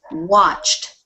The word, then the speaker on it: watched: watched watch watched watch now listen listen to the end it doesn't sound like a d at all we're putting e d on the end but what it sounds like is a t watched watched watched watched